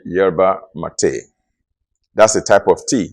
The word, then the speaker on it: yerba mate: m a t e jerba mate. In English, it is pronounced yerba mate, but I think in Spanish they call it yerba mate.